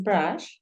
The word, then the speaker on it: brush: peinarnos entonces mira Brush Acuérdate que la u la estamos pronunciando como una a Entonces si tú dices Brush es una palabra que termina en sh y si lo quieres